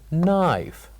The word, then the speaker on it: knife: that this word is knife this word is knife and we said that knife has one silent letter knife has one silent